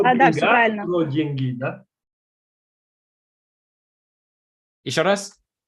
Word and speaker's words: деньги: про деньги, да? Еще раз? О деньгах, про деньги, да? Ага. Деньги on the first syllable.